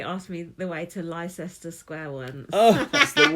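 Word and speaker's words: Leicester: oh where do we need to get off glester Ro and I was like um actually it's Excuse excuse me terribly sorry did you actually say that awfully sorry to inter actually pronounced gler they're like oh thanks very much oh that's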